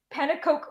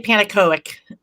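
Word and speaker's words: Pannekoek: How do you pronounce his name, Janet? Do you know? I would say Panakoic. Panakoic. Okay. Yeah, the end is Koek.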